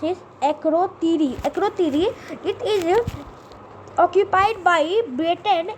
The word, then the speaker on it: Akrotiri: The enemy is Cyprus, and their boundary is by United Nations buffer zone in Cyprus, and then by Akitoria. I can't pronounce it. Akrotiri.